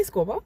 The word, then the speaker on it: escoba: Você se escreve escoba e se pronuncia escova, né? Mais ou menos assim, um B arrastadinho pro lado de V.